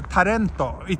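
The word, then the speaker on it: タレント: oh I see sorry so tarento it's the Japanese pronunciation of the word word talent and it basically means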